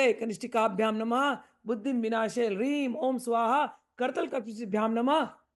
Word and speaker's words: ह्रीं: ओम ह्रीं, कृपया 'ह्रीं' का सही उच्चारण करने का प्रयास करें।